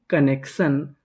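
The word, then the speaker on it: connection: कनेक्शन।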